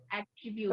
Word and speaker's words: attribute: attribute at attribute yeah attribute because some people say attribute uh it's it's at because the Double T is there so it's attribute three syllables attribute you're the mother